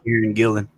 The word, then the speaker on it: Kieran Gillen: And we're going to go ahead and read Once and Future by, am I pronouncing it correctly? Kieran? Yeah. Kieran Gillen.